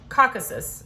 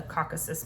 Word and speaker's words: Caucasus: can say this right, Caucasus, I'm pretty sure is how you say it. The Caucasus Mountains, the emphasis is on the first part.